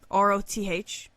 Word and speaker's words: Roth: In one tale, a man named Roth, R-O-T-H, Roth, was slain... Mike Tyson pronouncing Ross from Friends. Roth. Because he always off. says TH.